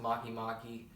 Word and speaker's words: Makemake: how Maya mom Makemake oh it's pronounced Makemake they should learn how